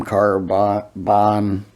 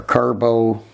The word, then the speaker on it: Carbo: with that from that M Carbon or Carbo. Carbo is how you say it.